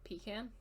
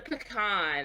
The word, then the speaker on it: pecan: i say okay what's what's the nut that has two pronunciations a pecan like it's yes okay and that's how i say it okay she goes to me she's like it's a pecan i'm like and i